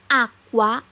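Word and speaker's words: acqua: যারা একান্ত কে বা সি ব্যবহার করছে তাদেরটা ভুল, কারণ আকুয়া আকুয়া একটা কু একটা টান আছে সি এর পরে, এই টানটা সি এবং ইউর মাঝে একটি কিউর মাধ্যমে আসে।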